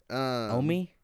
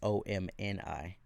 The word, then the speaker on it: Omi: Omi? Yeah, Omi. So the N is silent? Huh? The N is silent? There is no N. Oh, is it OMI? Yeah, OMI. I thought it was OMNI.